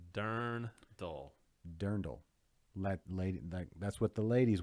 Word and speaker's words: Dirndl: It's pronounced Dirndl, Jose. Dirndl. Darn dull.